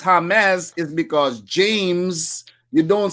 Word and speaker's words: James: Yes, and the reason why it's pronounced James is because James, you don't say James in Spanish. The J in Spanish is pronounced as like a H.